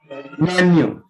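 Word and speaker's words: menu: उसको ऑर्डर करते हैं तो बहुत से लोग उसको मेनू बोलते हैं बट D real pronunciation of मां यू मां यू नॉट मीनू मां यू सो मनु क्या होता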